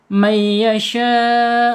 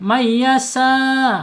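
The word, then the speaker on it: مَن يَشَاءُ: Awas ingat syin ya. Syin ini saya wanti-wanti syin jangan sampai membacanya pakai huruf sin. Mayyasa atau mayyata. Hati-hati nanti akan berubah maknanya bisa berubah ya.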